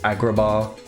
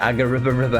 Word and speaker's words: Agrabah: I remember I couldn't pronounce Agrabah for about 3 months. I used to call it Agariba.